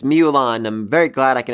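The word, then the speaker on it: Myulan: pronounce her name seriously the way it's spelled in light novel is like like it shouldn't be physically pronounceable but it's mulan i'm very glad i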